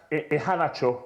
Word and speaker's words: Iheanacho: Actually, his name is pronounced Iheanacho.